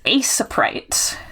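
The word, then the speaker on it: Aseprite: Um, this is asaprite. I'm over pronouncing it so you can hopefully spell it.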